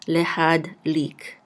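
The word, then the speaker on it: להדליק: The shava will be silent. So lehad. Oops. Lehad. And this lamed with a chirik and the yud together will say li. And we're going to close this syllable out with a kuf, and we'll say lik.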